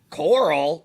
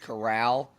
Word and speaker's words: Corral: thing with uh matt corll no sorry matt corral it's pronounced corral like golden corral who by the way